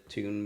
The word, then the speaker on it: tiwn: as well that um tune is spelled t TI WN and um it's it's the Welsh version of it like the okay in